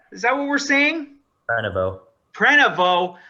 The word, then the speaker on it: Prenevost: that what we're seeing prenavo which is not how it's spelt it's not how it's spelled that's why it's confusing